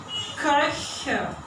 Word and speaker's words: Köche: So this one is pronounced Koch, and when it is in plural, I have to pronounce it from the mouth. Köche.